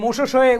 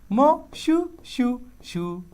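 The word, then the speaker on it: Moshoeshoe: একজন লিখছে ভাইয়া এই মোশো শোয়ে উচ্চারণটা বলেন, এটা হচ্ছে মোশো শোয়ে, মোশো শোয়ে, মোশোয়ে শোয়ে, ঠিক আছে? আর এটা মজার, এটা বাংলা আর মজা হয়, মো শু শু শু, মো শু শু, মো শু শু।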